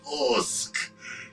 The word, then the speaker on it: Usyk: Usyk.